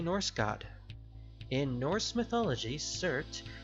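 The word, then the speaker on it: Surtr: In Norse mythology, Surt, most commonly known as Shurt, which is spelled S-U-R-T-R, a little weird, rules the land of fire.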